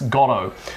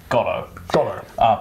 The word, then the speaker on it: Godot: patrick stewart pronounced it we're not actually sure which one's the official pronunciation but we're australians and we're founders of patrick stewart and mckellen so we're going to go with godo gotto you pronounce it however you want all right